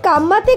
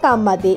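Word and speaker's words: Ka mate: বেছে নেন সংসদ সদস্যরা সেই গানের একটি কথা শুনতে কম্বল দে এর মতো তবে শব্দটা কম্বলদের নয় হাঁকা গানটির উচ্চারণ কাম্মাতে কাম্মাতে এটি একটি প্রতিবাদী গানটির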